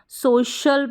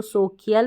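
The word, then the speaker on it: social: आगे आई ए है इन सभी स्पेलिंग में सी के आगे आई ए है तो सोशल पढ़ेंगे सोशल क्या पढ़ेंगे सोशल ना तो सोकल पढ़ेंगे ना सोशियल पढ़ेंगे सोशल पढ़ेंगे श पढ़ा है यहां पर उच्चारण लिखा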